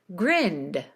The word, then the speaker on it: grinned: If you skip the D sound here, which is what most ESL speakers will do, they'll skip the D, it sounds like you're saying the present tense grin instead of the past tense grinned.